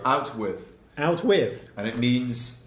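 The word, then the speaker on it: outwith: Out with, not I'm out with this, I'm out with my new girlfriend today. No, it's just one word, out with.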